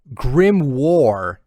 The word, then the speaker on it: grimoire: definitely yeah yeah for sure um grimore is pronounced grim war i know because of black clover well mister